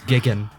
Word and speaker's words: Jigen: missed you also missed out on the dub mispronouncing Jan's name it's Gigan I can't remember if goon is mispronounced and